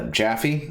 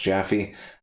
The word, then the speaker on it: Jaffe: anyway uh david uh jaffe i think is how it's pronounced jaffy uh the co-creator from